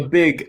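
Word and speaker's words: van de Beek: his name so yeah people who are gonna come at me for not saying beak apparently is big um okay uh good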